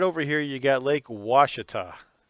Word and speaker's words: Ouachita: here you got lake washita it's spelled uh o-u-a-c-h-i-t-a and it's pronounced washita and it's a huge